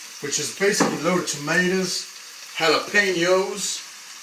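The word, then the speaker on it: jalapeño: is basically loaded tomatoes, jalapenos, not jalapenanos, or some maybe, or jalapeno. That's the right way to say it.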